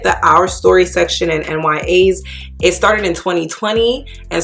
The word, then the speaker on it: NYAS: it for you guys they are n y a's according to their website this is how you pronounce their brand it stands for not your average size already off to